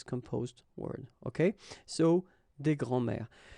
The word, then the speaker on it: grands-mères: Okay, so des grands-mères. As I said, phonetically it's the same anyway, because it will be une grand-mère, des grands-mères, and then des grands-mères. Okay, so phonetically the same form, but you've got to